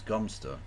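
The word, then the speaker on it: Godmanchester: You live in a country that pronounces God Manchester as Gomster.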